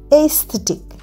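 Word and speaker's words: aesthetic: এস টি এইচই টি আই সি এসথেটিক। এস্থেটিকে ই দিয়ে উচ্চারণটা আমরা করছি।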